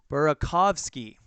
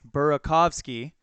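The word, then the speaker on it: Burakovsky: first one all right we got some pronunciations in the chat we have tri fan 879 burakov ski okay burakov ski and then it's James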